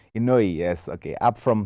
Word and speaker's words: Inoue: Then we got Naya Ioni. Did I say his name correct? Inoue, yes.